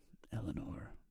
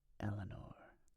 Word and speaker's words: Eleanor: I love how Americans pronounce Eleanor, because you have so much ASMR. The English version sounds bland compared. Eleanor.